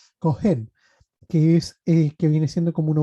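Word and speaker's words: כהן: Lo primero que tenemos que entender es la definición de sacerdote en hebreo que se pronuncia Kohen, que viene siendo como una autoridad principal o jefe o sacerdote.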